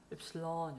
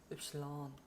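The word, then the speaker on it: Ypsilon: 그리고 악센트도 뒤에 있다. 읰실론 이렇게 읰실론.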